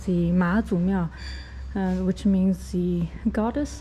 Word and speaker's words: 妈祖: So although in Chinese the character is 妈, it has to be pronounced as Ma, so it's called the Ma Zu Miao, which means the